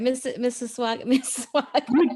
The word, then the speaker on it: Mississauga: Mississauga.